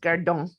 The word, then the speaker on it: gardant: a modern French word, gardant, right? Guarding. I think the ant ending in French does indicate a participle. And yeah, but it's pronounced gardon. Okay. Okay. No T in the pronunciation.